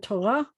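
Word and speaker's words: תורה: So we had Torah, we have harbe. In both cases, the hey at the end of the word is silent. And in both cases, the accent is at the end of the word.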